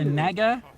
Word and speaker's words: naga: is the naga oh some people might call it a nega yep i call it a naga cause i'm pretty sure that's how you pronounce it and that might even